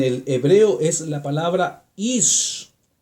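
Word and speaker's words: אִישׁ: La palabra varón en el hebreo es la palabra ish, I-S-H, se pronuncia más o menos ish.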